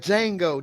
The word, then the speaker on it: Django: Like Django, the D is silent.